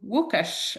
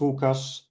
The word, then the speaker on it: Łukasz: Actually, you are pronouncing my name very well. It's Łukasz, in Polish version of Lucas.